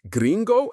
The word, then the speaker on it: gringo: Finally, we can't talk about a tourist's experience with Brazilian slang without mentioning gringo or gringa, pronounced gringo and gringa.